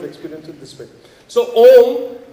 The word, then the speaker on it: Om: So, Om is basically 3 syllables. A, U and Ma.